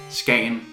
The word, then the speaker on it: Skagen: In Danish, sometimes we don't really say the G. Sometimes it's like a J or a Y. So you say that town name as Skagen.